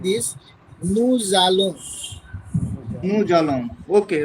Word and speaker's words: Nous allons: And see, S between two vowels U and A. So pronunciation will be like this. Nous allons.